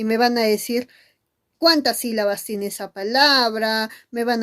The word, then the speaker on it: sílaba: Tú dices sí, la, va. Muy bien, 3 sílabas, hijito. ¿Y te has dado cuenta que hay una mayor fuerza de voz? Y está muy notorio porque hay una tilde de por medio. ¿Y dónde está la mayor fuerza de voz? Profesora, está en sí.